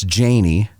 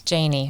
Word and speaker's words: Janney: were talking beforehand it's janie it's a long a yes it's janie but most people would